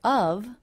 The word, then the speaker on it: of: But the next word, of, I pronounce this with only the schwa sound. So I reduce it so much that the v sound is dropped altogether. What do you think of this one?